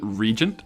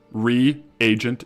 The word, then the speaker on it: reagent: Is it regent? Regent. I definitely guys I I will be the first to admit I do pronounce some things very wrong. I do pronounce a lot of stuff wrong. Reagent is correct.